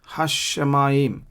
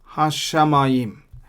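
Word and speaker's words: השמים: Again, hashamayim. So sha is doubled. Ele toledot hashamayim. So that's the pronunciation. That's how you read it.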